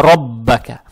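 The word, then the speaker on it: رَبَّكَ: Теперь буква ра с фатхой, фатха приобретает оттенок о, ро читается твердо, ро, ро. Далее стоит буква ба, она же удваивается с фатхой, и здесь каф с фатхой, как вот здесь было, только здесь роббука, а здесь роббака.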